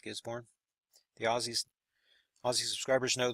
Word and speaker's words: Gisborne: of Gisborne New Zealand that the way you say it Gisborne the Aussie Aussie subscribers